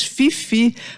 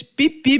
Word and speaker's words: Phi Phi: PH aí PH aí eu sempre falei Eles Fifi Mas não é isso é um erro terrível né eles pipi mesmo e o tailandês se